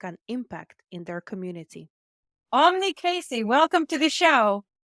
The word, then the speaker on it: Omni: system and make an impact in their Community Omni Casey welcome to the show Welcome we're so happy that you're here the investor guy so excited to be here and it's spelled Omni but it's actually pronounced Omni and so that's